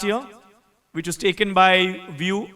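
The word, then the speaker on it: Wio: which was taken by Vue it's pronounced as view but written as wiio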